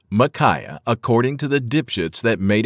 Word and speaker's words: Mikiah: number four micaa m i k i ah micaa this name is pronounced micaah according to the that